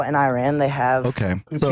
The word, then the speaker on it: Iran: They're saying I'm saying Iran, like my eyeball. It's Iran. Like, oh, Iran.